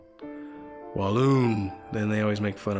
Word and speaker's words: Walloon: And sometimes I have to correct them about the pronunciation, Walloon.